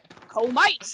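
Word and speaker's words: Comice: sweet pear, try and go for a Comus. I'm not sure if that's actually how it's pronounced, but with a French accent, it is pronounced a Comus. Je And- comes pears. Yes, it's bien. de baguette. And just Comites if you're English.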